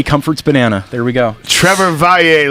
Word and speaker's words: Trevor Valle: Trevor Valle, ladies and gentlemen. That's how you say it if you want to be cool.